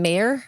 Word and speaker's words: Mayer: It starts in Mayer, I think is how you pronounce it, Mayer.